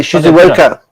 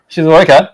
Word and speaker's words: Shizuoka: And the Shizuoka. Did I say it right? Shizuoka? Yeah.